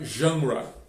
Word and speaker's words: genre: palavra gênero, que é genre. Então a pronúncia é parecida com a palavra janta, só que em vez do T você a substitui por R. Então seria genre. Escrita também é bem parecida.